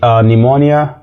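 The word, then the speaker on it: pneumonia: واه مش موجود كمان في كلمات مالهاش قاعده زي نيمونيا وم نيمونيا وم كمان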